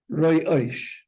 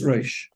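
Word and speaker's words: ראש: So I heard kids say, Roy Oish. But the aleph does not have to have a nekuda, and it's without a nekuda, it's Roish. You have to know.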